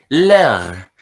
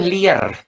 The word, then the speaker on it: leur: Leur, bukan liar tapi leur.